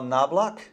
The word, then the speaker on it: Knobloch: I'm here with my friend Al Knobloch. That's how you pronounce it, right?